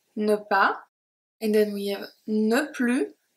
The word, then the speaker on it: ne plus: and then we have no plu no plu here the s is not pronounced if you remember my